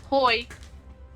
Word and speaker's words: hoi: Or if you want to get casual, hoi.